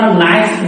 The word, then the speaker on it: knife: যেমন আমরা নাইফ বলি না, নাইফ ছুরি, দেখেন KNIFE, কিন্তু কে উচ্চারণ হয় না, উচ্চারণ করে কি নাইফ, ওই যে প্লোসিভ উঠে গেছে।